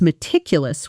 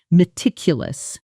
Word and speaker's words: meticulous: now say, "I was meticulous with the report." Notice the sound of it. Meticulous. The stress falls on the second syllable.